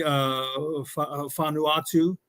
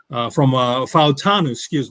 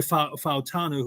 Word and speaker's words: Fautanu: I also put the name of Troy Fanuatu. I believe I'm pronouncing it correctly. From Fautanu, Troy Fautanu, who was another great player coming out of